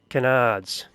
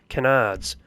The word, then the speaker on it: canards: I'm not pronouncing that correctly, am I? It's canards. What am I saying cardinals for? Canards.